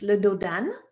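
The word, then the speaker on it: dos d'âne: it a sleeping policeman in french it's ludo dan okay and they say it's so fast it sounds like one word so this is your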